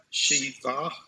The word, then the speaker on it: שבעה: Shisha, shiva. It's going to be broken up like this. Shiv, a. Shiv, a. Shiv, a. Because remember, the ayin is basically silent. It's breaking up the syllables.